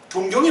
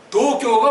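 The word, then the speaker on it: 東京: 동경이 뭐예요? 참, 도교가 뭐예요? 동경. 그렇게 신문이고 방송이고 말고 우리는 그렇게 하면 돼. 동경.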